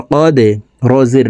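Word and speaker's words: قدر: কদে রি, রকে ওয়াকফের ক্ষেত্রে সাকিন করে ফেলবো, তখন শব্দটি এভাবে পড়তে হবে। কদর, কদর, ফি লাইলাতিল কদর।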